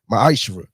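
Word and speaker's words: מעשר: of Malachi 3: 8-10 means 10th in Hebrew and it's pronounced M isra 10% of every penny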